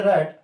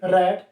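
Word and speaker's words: read: यानी कि जब हम सेकंड फॉर्म और थर्ड फॉर्म बोल रहे हैं तो इसको प्रोनाउंस करेंगे रेड, और इसकी फर्स्ट फॉर्म लिखेंगे, इसको पढ़ने का काम करते हैं रीड।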